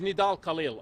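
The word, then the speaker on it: Nidal Khalil: today thank you your name my name is nidal khil I go by can you spell it for us n i d a l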